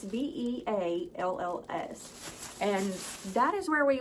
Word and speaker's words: Bealls: Now, I think it is pronounced Bills, but I'm pretty sure the lady said it's Bells. And so I'm not exactly sure how to pronounce it, but it's Bealls.